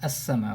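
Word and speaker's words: السماء: I'm not pronouncing the lam because sin has a shadda on it.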